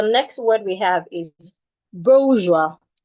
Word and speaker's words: bourgeois: You have it in bo. It has a shua. Excuse me. It has a diphthong sound. Oa. It has the oa. Boa. Then you have the joie. Bourgeois. Bourgeois. You're stressing the first syllable.